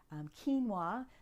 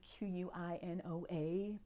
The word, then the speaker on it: quinoa: Popcorn, including popcorn, then we have millet, oats, quinoa -- that's that funny q-u-i-n-o-a people pronounce qui - no - a, but it's quinoa, which technically is a seed but it's in the grain family.